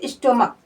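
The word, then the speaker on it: stomach: लेकिन उसका उच्चारण क से हो रहा है। जैसे स्टमक स्टमक देखिए एस टी ओ एम ए सी एच।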